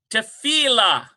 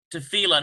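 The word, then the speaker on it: תפילה: Tefillah. Tefillah. And so T-E-F-I-L-L-A-H, tefillah. There it is. It's in the lamed, dagesh forte, tefillah.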